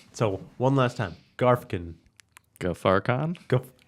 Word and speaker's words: Ghaffarkhan: Ghaffarkhan. Ghaffarkhan.